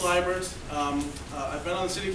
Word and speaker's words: Liebert: Again, my name is Liebert, not Liebert. I know it's the German, someone added a vowel at Ellis Island, I don't know. But it's pronounced Liebert.